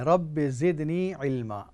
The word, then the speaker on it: رب زدنی علما: تلفظ چاہتی ہے۔ دیکھیے وقل جو ہے اس کو نہیں پڑھنا ہے، اس کو ہٹا دیں، صرف اتنا ہی پڑھنا ہے، رب زدنی علما۔ دعا یہ ہے، اے